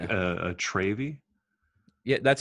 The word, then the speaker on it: Travy: Do you feel like a Travy? Yeah, that's how it. Yes, that's what I feel like it's pronounced Travy, and I hate it.